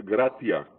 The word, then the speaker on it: gratia: Bueno, la gracia, el término gracia es de origen latín, que se pronuncia gratia y significa benevolencia, favor o beneficio que se recibe sin ningún tipo de merecimiento, sin ninguno.